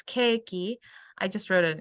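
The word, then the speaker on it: ケーキ: likes cake hi Nicola cake in Japanese it's cakey I just wrote it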